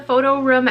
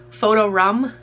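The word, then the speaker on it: PhotoRoom: the photo room app i tried to pronounce it room this time because i guess i said rum i guess i guess i have an accent i guess i pronounced the app photo rum photo room photo room that's how i say it photo room um yeah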